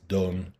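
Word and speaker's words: donnent: S, elle avec S, donne. Even though it says D-O-N-N-E-N-T, it's still pronounced donne.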